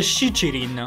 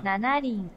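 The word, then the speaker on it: 七輪: E qua infatti si legge Shichirin. Nanarin.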